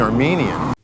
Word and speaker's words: Armenia: over my not being Armenian the country's name is Armenia you from the hills of Armenia and me from Jackson Heights have there been Armenia Albania again with a long e like green beans Armenia and to describe